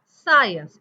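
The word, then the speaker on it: science: आहेत आपल्याकडे एस सी एस सी मध्ये सी सायलेंट आहे example सायन्स एस सी आय एन सीइ सायन्स सी सायलेंट सायन्स सी एच आलं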